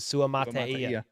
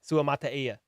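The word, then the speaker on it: Suamataia: Cole, according to Dame Brugler, I already forgot how to pronounce his freaking last name, dude. Sua Mataia. That's it. Sua Mataia.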